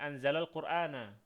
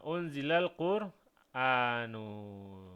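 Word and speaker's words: أُنْزِلَ القُرْآنُ: seperti ini enggak bisa atau kurang tepat kita membacanya anzalal qurana ya maka tipsnya kita gunakan opsi yang kedua ini Ah gimana cara membacanya ini unzilan Heeh unzilal quranu gitu ya oke silakan dicatat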